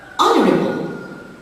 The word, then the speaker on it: honorable: Honorable. So the silent letter here is the mute H in the initial position.